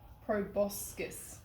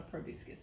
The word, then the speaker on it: proboscis: I think I pronounced it wrong though. The bee's tongue is called a proboscis, not a proboscis, a proboscis.